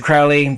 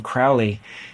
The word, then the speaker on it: Crowley: nerds out there, because the name Crowley is not a spondee, it's a trochee. A spondee, I mean, the word spondee is a spondee. It's two stressed syllables, spondee. If for Crowley to be a spondee, it would have to be pronounced Crowley instead of Crowley. It's stressed, unstressed.